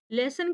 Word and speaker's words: lessen: लेसन की spelling को आपको ध्यान देना है। इसका जो साउंड है ये लेसन से आता है, LESSON।